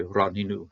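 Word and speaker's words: רנו: The noon has been doubled because of dogish and say ranu.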